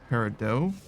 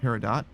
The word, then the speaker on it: Peridot: a character Peridot, but I would always think it was pronounced Peridot, like a silent T and a hard O, long O.